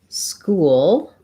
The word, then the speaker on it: school: think same beginning words so ch just says a k sound so it would be more like school versus skull so the main difference